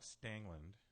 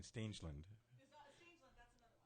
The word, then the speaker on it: Stangeland: okay okay all right but it's not stangland I mean stangeland okay yeah yes okay